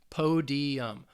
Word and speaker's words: podium: is a noun and it's three syllables the stress is on that first syllable po podium podium podium and this is a